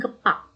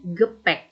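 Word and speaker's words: Gepäck: Misalnya seperti gepak, dibacanya gepek. Bukan gepak, tapi gepek yang artinya bagasi.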